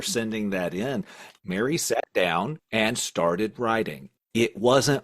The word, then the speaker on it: Tao: quote of the day Dow is spelled Tao thank you for that